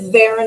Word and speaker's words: Varon: to correct them anymore, but it's Varon. It's very boring. Karen. No. Yeah, just it's normal. It's just, yeah, people add that little accent on the end, but it's not that fancy.